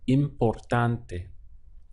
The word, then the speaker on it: importante: So the rule to convert all of these words into Spanish is that A-N-T becomes ante in Spanish. So you're just adding an E onto the end, and the pronunciation is ante.